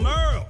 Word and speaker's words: Merle: Hey there, I'm Merle, spelled like Hurl.